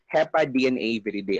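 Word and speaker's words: Hepadnaviridae: It's your HEPA DNA viridae. So it can already give you an idea na, ah, okay, it's a DNA virus, HEPA DNA viridae.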